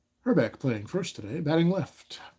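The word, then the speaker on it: Hrbek: away here's K herck the a is silent it's actually not it's herck herbeck playing first today batting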